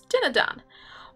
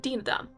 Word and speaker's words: Dinadan: the comic project i'm working on which is dinner dan although apparently some people pronounce it deem them but that sounds weird so we're gonna stick with dinner done because it's better inktober i think personally tell